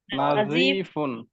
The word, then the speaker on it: نظيف: এবার ছোট, صغير صغير কবিরুন সগীরুন বড়, كبير কাবিরুন কাবীরুন পরিষ্কার, نظيف نظيف নাযীফুন জকে যত হালকা করে উচ্চারণ করে, নাযীফুন। نظيف নাযীফুন একটু শক্ত হলে কিন্তু জিম হয়ে যাবে, ঠিক আছে।